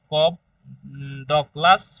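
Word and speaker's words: Cobb-Douglas: এটা এটার উচ্চারণ হচ্ছে কব ডকলাস প্রোডাকশন ফাংশন। কপ ডকলাস প্রোডাকশন ফাংশন।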